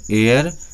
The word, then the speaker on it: heir: दूसरा हमारा वर्ड भी है एयर, जिसका स्पेलिंग है HEIR।